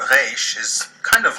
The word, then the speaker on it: resh: If either of these pronunciations is too challenging for you, you are welcome to resort to pronouncing this letter like the letter R in English. The Hebrew letter Resh is kind of like